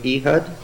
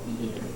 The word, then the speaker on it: Ehud: Could you be thinking of Ehud? Oh, Ehud.